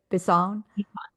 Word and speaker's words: Bisson: Bisson? Yeah, it's Bisson. French.